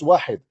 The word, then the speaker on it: Wahid: You do not even know how to say it is not Wahad, it's Wahid.